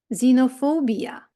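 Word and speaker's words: xenophobia: такий музичний інструмент зайлофон Зверніть увагу що літера X на початку слова дуже дає дає дуже несподіване звучання замість КС або ґз ми чуємо з zeroк тактак Це той самий ксерокс Але читається zerx знія ніколи не здогадаєтесь але це таки Ксенія zerxies знофobбія Ну і коли пишеться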